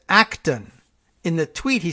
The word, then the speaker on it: Acton: pronunciation you could say dr. Amy no acting no Acton would have been as needed so you say Acton is what I'm doing here okay oh and thank